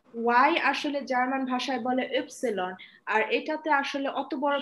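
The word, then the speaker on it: Ypsilon: Ma'am বলেছিলাম যে ওয়াই এর উচ্চারণটা কিভাবে ওয়াই ওয়াই ওয়াই, আচ্ছা। ওয়াই হচ্ছে জার্মানে আমরা যে লেটারকে বলি ইপসিলন।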